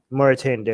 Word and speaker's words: Mauritania: What's that other country that I can never pronounce in Africa? Mauritania. Mauritania.